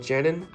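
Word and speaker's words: Janín: to read the run and I think Michael janon um niichel jenon is how you pronounce it his art is amazing I read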